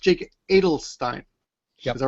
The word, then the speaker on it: Adelstein: It's pronounced Jake Adelstein. Is that right? Steinstein. Adelstein. Okay. Adelstein.